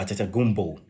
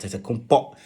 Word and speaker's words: Antetokounmpo: Or Kumbo, if you want to pronounce it the Nigerian way. Or Antetokounmpo. So many pronunciations, but Antetokounmpo.